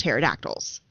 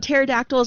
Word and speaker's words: pterodactyls: I was obsessed with pterodactyls ah because the P is silent and I was like